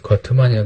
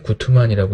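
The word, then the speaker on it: Guttmann: 이제 거트만이라고 되는데 구트만이라고 읽죠.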